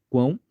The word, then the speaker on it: quão: no início aqui ó tem a letra C que faz o som do q iniciando a sílaba quão E aí fica quão quão quão quão esse c é aquele q e os dois US são aquele w o v a semivogal v Beleza então aqui tem